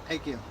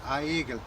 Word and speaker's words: Egil: I pronounced my name Egil, Yes. and she pronounced it Aegil.